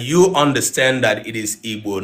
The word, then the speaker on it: Igbo: That you understand that it is Igbo, not Igbo. All right. So if you are having problem in pronouncing this letter, the way that it sounds,